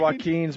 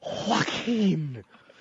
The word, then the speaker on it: Joaquin: Oh, Joaquin. Anybody with a silent J in the beginning of their name Joaquin.